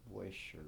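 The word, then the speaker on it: Buescher: I got a curved neck flute rather, and my 1914 Busher, I think it's pronounced Busher because it's got a B-U-E-S, Busher, and a C-H. It's weird, it's spelled real weird.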